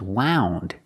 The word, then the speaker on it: wound: So, what is wound? Is wound even a word? Yes, it is. Wound is spelled exactly the same, but it's pronounced differently.